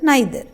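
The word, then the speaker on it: neither: For example, each, आइदर, नाइदर। तो each हर एक, आइदर को ईदर भी प्रोनाउंस करते हैं, नाइदर को नीदर भी प्रोनाउंस कर सकते हैं।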